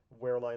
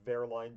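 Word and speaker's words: Wehrlein: I think I said Pascal wearine. Obviously, it's verine because he's German and that's how you pronounce W in German.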